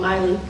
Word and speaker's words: Maile: bill but I really appreciate you guys coming out of my league that's how you say my name Miley like Miley Cyrus been not as reckless